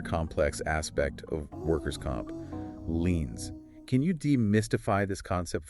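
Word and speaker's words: lien: dealing with another complex aspect of workers comp leans can you demystify this concept for us what exactly is a lean and why do providers need to understand them a lean pronounced lean is essentially a legal claim that a medical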